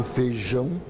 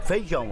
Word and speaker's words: feijão: A gente engole o I, né? Em muitas regiões, a vogal I, quando está com outra, desaparece. Eles falam que mineiro fala muito vogais juntos.